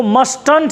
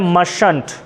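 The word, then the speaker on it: mustn't: मस्ट नॉट को देखो क्या पढ़ेंगे, अब मस्ट नॉट को मस्टंट नहीं पढ़ते हैं, टी को साइलेंट करेंगे, और टी को साइलेंट कर दें तो बचा मशंट, बना ना। तो बनेगा मश।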